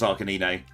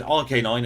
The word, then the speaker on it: Arcanine: along with us it's akanine isn't it I've always thought it was Arcanine I only said rk9 in that run because I was silly back then I was yeah I'm